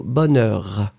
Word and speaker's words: bonheur: So it goes out, it's not as strong as the H. So bonheur. Okay?